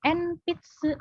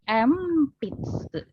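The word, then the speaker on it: 鉛筆: Bacanya bukan enpitsu tapi empitsu.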